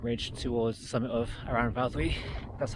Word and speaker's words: Aran Fawddwy: i'll follow that ridge towards the summit of around valtteri that's how you say it i've done a